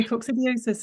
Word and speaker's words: coccidiosis: both red and grey squirrels can suffer from coccidosis. Is that how you say it? And is there a link between large pheasant populations and squirrel health? Yeah, tell me I'm saying that right. Yes, right. So coccidiosis is coccidia are protozoan parasites, so they're kind